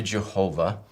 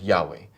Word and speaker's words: Yahweh: to the text so with regard to jehovah we do believe that it's an incorrect way of pronouncing it but what that is is it is a it's a misreading of the vowels that appear on the letters y h w h on the word yahweh it's a simply a